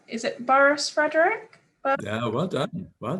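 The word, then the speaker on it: Burrhus: sorry if i'm saying this wrong is it boris frederick yeah well done well done yes oh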